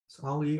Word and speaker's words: Ali: The Ali Forney Center, or Lee Forney Center, was founded in 2002 in memory of Ali or Ali, I think it's Ali, it's the correct pronunciation, who was a homeless,